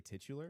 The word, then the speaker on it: titular: Is it really titular?